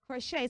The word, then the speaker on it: crochet: is simply proch now the first thing you should observe is that the CH is not sounding chip on a regular basis so you don't say Pro you say CR the S turns to a the CH turns to what sh so it's crochet so I want it